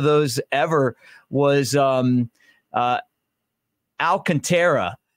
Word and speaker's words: Alcantara: ever was um uh Alcantara who is actually alcantra and he said to me he's like look I don't care if you call me Alcantara or Al Contra and I'm talking about